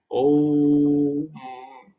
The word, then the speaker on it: ओम: जैसे ओम में जो ओ आता है ना, उसके आगे 3 लिखा रहता है, उसका मतलब है प्लुत। ओम। तो माँ से 3 गुना ज्यादा समय तक उसका उच्चारण होगा।